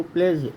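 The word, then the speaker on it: pledge: उसी तरह से डी कब साइलेंट होता है, जब यह जी के साथ आता है। आप देखो कहीं पर भी देखो, प्लेज, डी और जी साथ में आए हैं तो डी का उच्चारण नहीं हुआ।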